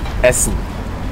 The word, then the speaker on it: Essen: how do you say how do you say eat Essen Essen yes isn't that town where